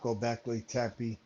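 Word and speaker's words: Göbekli: Major I got the book about Gobeci.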